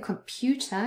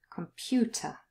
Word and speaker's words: computer: So here in computer, you have it twice, come in the middle between k and m, come, and then the stress is on pu, compu, and then right at the end, ta, computer. So we've got it twice here. That can happen. You can have the schwa more than once in a word.